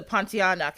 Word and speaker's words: Pontianak: This is a Pontianak.